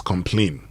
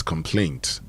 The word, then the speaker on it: complaint: Some people use the noun as complain. Okay. And that's it. But if you want to say it right, then it's complaint. And that's how you say it right.